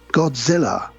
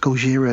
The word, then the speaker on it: Gojira: And we call this Godzilla. And she's like, it's pronounced Gojira, you asshole.